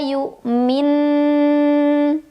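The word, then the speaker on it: يؤمن: Hatta yu'min. Berhenti ataupun tidak berhenti, di sini ada hukum gunnah, yaitu nun yang bertasydid. Maka cara membacanya adalah didengungkan dulu ya. Jadi bukan mi-nya yang dipanjangin, melainkan bunyi dilamain.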